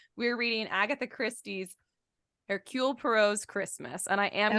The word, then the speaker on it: Poirot: So she's like, I think the emphasis is on the first part of Poirot. So it's Poirot, not Poirot. It's Poirot.